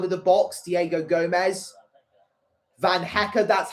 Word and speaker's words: Van Hecke: Van Hecker, that's how you pronounce his name.